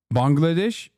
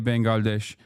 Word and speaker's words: Bangladesh: Bangladesh Bangladesh. I was wrong. Turks don't say Bangalesh. I was wrong. Bangladesh is how Turks say it. So they say it right.